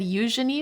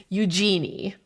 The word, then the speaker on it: Eugenie: Now, I do want to highlight that I said Eugenie, which is the way that you're supposed to pronounce the name of Princess Eugenie, but usually in the US, you would pronounce it Eugenie Ross Lemming, so apologies for that.